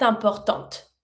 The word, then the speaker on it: importante: And I pronounce my last T from importante because it's in front of the mute E. So, I do pronounce it. La nature est importante.